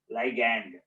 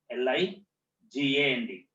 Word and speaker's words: ligand: also act as here ligand. What is called? L-I-G-A-N-D. Ligand or ligand, whatever you want, you can pronounce.